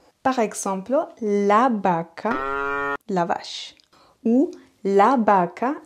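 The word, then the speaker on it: vaca: même son que le B par exemple la Baca la vache ou la Baka le porte-bagage la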